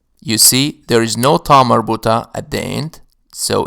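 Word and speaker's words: تاء مربوطة: It carries this name because it is pronounced as a ta when it is part of a possessive construction. When it is not part of a possessive construction, it is pronounced ah.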